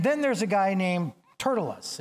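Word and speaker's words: Tertullus: there's a guy named turtas it's spelled not like that but that's how it's pronounced I just picture a turtle and us next to it Turtle us Turtle us was a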